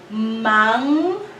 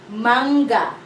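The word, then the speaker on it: mangga: The sound is So in the first syllable, we have an NG. It says manga. Manga.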